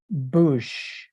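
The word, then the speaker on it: בוש: This is pronounced bush.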